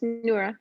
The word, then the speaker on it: Nora: to introduce is nora nora is that my pronouncing your name correctly i just wanted to make sure yeah it's neura yeah you're saying it right perfect so nora knows